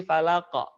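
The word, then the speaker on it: فلق: Jadi bacanya bukan falak tapi falaq.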